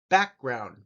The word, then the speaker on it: background: easy one family family background the back gets the emphasis background education and this word